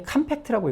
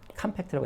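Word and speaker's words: compact: 그런데 이게 컴팩트라고 읽을 때가 있습니다. 컴팩트라고 액센트가 앞에 와요.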